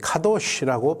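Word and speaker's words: קדוש: 생각해 볼 필요가 있습니다 히브리어로 거룩은 가도시라고 발음합니다이 낱말은 뜻이 아주 많습니다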